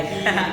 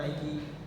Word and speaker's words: Nike: Nike Cortez.